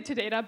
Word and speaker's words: Todata: I typically say Todata, but the origin of the name is Tada and data or data, depending how you pronounce that word.